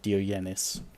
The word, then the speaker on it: Diogenes: Oh, no, Diogenes. Him. Which is apparently how you say his name.